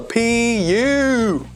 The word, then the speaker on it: pupa: It's not called the pupa. It's called the pupa. Pupa. That's how we pronounce it.